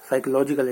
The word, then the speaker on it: psychology: साइकोलॉजिकल education. इन लोगों को साइकोलॉजी का पी साइलेंट है, साइलेंट पी ही नहीं पता है।